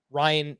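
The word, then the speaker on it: Ryne: So my Fortune favors the Brave 2-star pitcher will be Ryan Nelson, which is actually spelled R-Y-N-E if you're trying to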